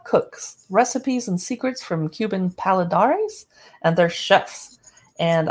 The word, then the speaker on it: Cuba: recipes and secrets from Cuban paladares and they're chefs and I could pronounce it Kuba but I'm American and we say Cuba so no offense award-winning